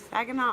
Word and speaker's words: Saginaw: he is but I want to go to Saginaw uh am I saying it right that is